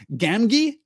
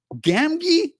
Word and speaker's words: Gamgee: to get back here my audio book pronounces the second G in Gamgee the same as the first Gamgee Gamgee oh I don't love